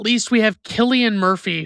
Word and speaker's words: Cillian: And last but not least, we have Cillian Murphy, who I thought his name was pronounced Silian Murphy for the longest time until he was in Oppenheimer or something.